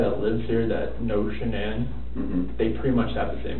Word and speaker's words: Shanann: And I don't want to pronounce her name wrong, Shanann? Shanann.